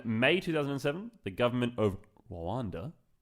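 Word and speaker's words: Rwanda: 2007 the government of Randa I think you not meant to pronounce the r too hard so I'm just kind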